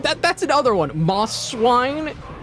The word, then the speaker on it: Mosswine: Moss swine. People read it as Mosswine, but there's the first the first S and the second S are separate words technically.